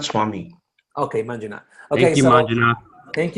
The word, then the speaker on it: Manjunath: It's Manjunath Swami. Okay, Manjunath.